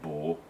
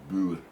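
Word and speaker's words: Boer: bull war era firearms the proper pronunciation is bud and um because i've known quite a few south african people and you know they will correct you and say it's not bore it's bull so buddha war uh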